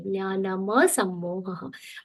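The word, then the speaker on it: jñānam asammoha: Jnanam plus asammoha, there is a swara sandhi of a complete ma there. Jnanama sammoha.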